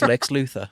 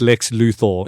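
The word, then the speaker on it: Lex Luthor: he's he's handsome now yeah nichas now he's Lex Luther yeah please it's pronounced Lex luor sorry sorry it is it is an o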